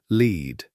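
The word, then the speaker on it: Lead: And yes, the town is called Leed, pronounced to rhyme with feed, named for the Leor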